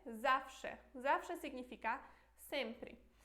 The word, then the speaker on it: zawsze: tipo que, por exemplo, que esse W se pronuncia como V em português, ou que esse Z é X, então é como se fosse X, por exemplo, em português, vai lá e assista